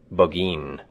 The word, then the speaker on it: Burgoyne: Nutting had a famous foxhound named Burgoyne. He pronounced it Bogeen, which my informant used to borrow.